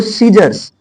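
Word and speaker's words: scissors: इसको सीजर्स, सीजर्स, सीजर्स, सीजर्स, देखो ध्यान से सुनो क्या बोला जाए, सीजर्स, है ना।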